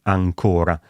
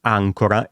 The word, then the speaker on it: ancóra: significato della parola, appunto come negli esempi della prima domanda: ancora e ancora, principi e principi.